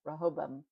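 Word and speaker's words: Rehoboam: The division of the kingdom when Rahobam. Rahobium. Rahobam. See, I looked it up. Rahobam. Rahobam. That's how they say it.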